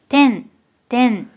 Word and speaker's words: 展: 먼저 뜻으로는 발음이 없고 음으로만 てん、てん、 이라고 발음해줘요.